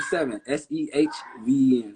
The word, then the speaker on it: Sehven: It's spelled seven, Sehven. It's kind of like you saying heaven, but you just putting a se in front of heaven.